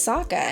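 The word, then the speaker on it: Sokka: a good job as Saka in my opinion besides the cheesiest lines my name's Saka rhymes with AA and waka waka for the most part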